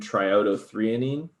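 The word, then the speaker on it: triiodothyronine: t3 and t4 so named as thyroxine and triodo threonine that's how you say that one that's a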